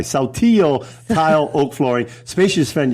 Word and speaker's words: Saltillo: Hey, I'm not even Spanish, and I know the double L is pronounced like a Y. Saltillo tile, oak flooring, spacious front yards, and mountain views.